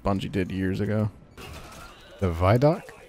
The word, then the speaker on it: Vidoc: The Vidoc? It's a video documentary. Yeah, but it's called Vidoc. Vidoc. It's the same thing. Vi. Vid. Video Vi. Doc.